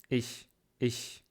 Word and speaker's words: ich: Мягкий, твердый, Например, немецкое слово ich значит я на русском. Ich. И как правильно произносить его? Это язык, и надо делать так, стороны вместе, и середина языка вверх. И воздух дует. Вот. Есть очень узкое место. Не здесь, не в горле, а в середине рта.